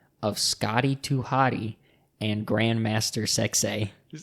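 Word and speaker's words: Grand Master Sexay: Scotty too hottie and Grandmaster sexay and you have to say it like that yeah you can't say it any other way it has to be Grand Master success that's all I have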